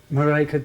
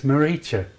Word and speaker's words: Marika: Pronounce it Marika again. Marika. Marika. Yeah. Marika. Yeah, but if you want to get closer to her and say it with more endearment, like, it's Maricha. Maricha.